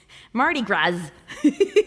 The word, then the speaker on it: Mardi Gras: Mardi Gras. I guess you don't pronounce the H. The S.